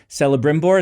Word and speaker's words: Celebrimbor: Celebrimbor, is that how you say his name?